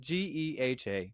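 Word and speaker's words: GEHA: tongue doesn't it G it's not g it's pronounced Gea field at heroad Stadium since March of 2021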